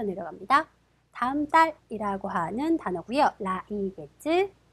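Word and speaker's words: 来月: 라이겟츠.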